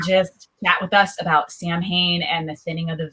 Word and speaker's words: Samhain: So the actual pronunciation of the word is Samhain, because it's a Gaelic word.